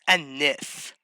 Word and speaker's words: Aneth: It's pronounced Anith. Like Anithia or something.